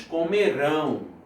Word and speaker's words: comerão: Eles comerão, a sílaba tônica é aqui, ó.